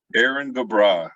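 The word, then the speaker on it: Éirinn go Brách: Well, Aaron Gobra, I think is how you pronounce it.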